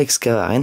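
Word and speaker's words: Excavarenne: euh ouais c'est ça excavaren ça se prononce comme ça donc les petits lapins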